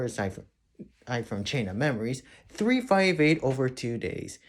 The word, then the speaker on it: 358/2 Days: Let's start off with the one most people are most famous for, aside from Chain of Memories, 358 over 2 days. Yes, that is how you pronounce it.